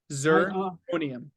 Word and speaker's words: zirconium: Can you spell it? Z-I-R. D-I-R. Z as in zebra. Z first. Yeah, Z-I-R. Zirconium.